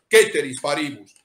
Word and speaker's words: ceteris paribus: ceteris paribus, que en realidad se debería ser ceteris paribus. Pero bueno, normalmente lo pronunciamos en un latín un poco extraño, ceteris paribus.